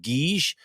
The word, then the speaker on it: Giz: It's actually pronounced Guige. It's quite an expensive wine, around 25 euros a bottle here in Portugal. And Guige means chalk, and that's where it got its name.